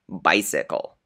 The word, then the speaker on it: bicycle: and a soft C, a word like bicycle. Why does the first C sound like S and the second C sound like K? Because you look at the next letter.